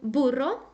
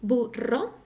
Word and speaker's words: burro: the strong sound first if you ever see a word written with two r's as in pero it's always going to sound strong I mean always okay